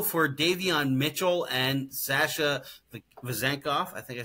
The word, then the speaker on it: Vezenkov: They traded Jalen McDaniels, for the 45th pick, but also for Davion Mitchell and Sasha Vezenkov. I think I said it right, Vezenkov.